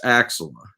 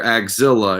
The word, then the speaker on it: Axilla: have with that is he's mispronouncing it it's it's Axl when I hear axilla it just sounds like some sort of you know like I got Godzilla nemesis of sorts you know I mean the